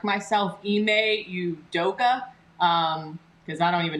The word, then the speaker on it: Ime Udoka: um so i just want to correct myself ime udoka um because i don't even know what i